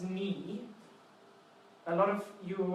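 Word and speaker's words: 你: Now, the pronunciation of this one is ni.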